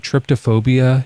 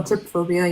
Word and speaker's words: trypophobia: Tryptophobia. You know, people don't like when there's like holes in things. Oh, trypophobia.